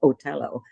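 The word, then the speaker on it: Otello: it was a performance of otell and that's how you say it in in Italian otell and he was taking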